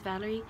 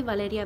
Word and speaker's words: Valeria: My name is Valerie. It's really Valeria, but I say Valerie because, you know, I speak more English and Spanish.